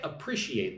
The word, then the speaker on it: appreciate: If I say, "I appreciate that." What I mean is thank you. So apprecate. Put the emphasis on the second syllable. One, two.